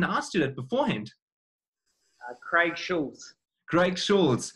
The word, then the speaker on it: Schultze: Quick hello, how do you pronounce it, the last name correctly? I didn't ask you that beforehand. Craig Schulze.